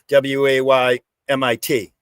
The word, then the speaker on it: Weymouth: It's like Weymouth. I grew up in Weymouth. It's Weymouth. What's the Google Maps? They pronounce it Weymouth. But those that were born and raised there pronounce it Weymouth. WAYMIT. Weymouth. Weymouth. But the T is sort of silent. So it's just like Weymouth.